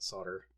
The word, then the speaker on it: solder: to solder sometimes solder somebody complained that I don't pronounce the L in in solder and I'm like well I grew up pronouncing it solder so you guys can deal with that there we go that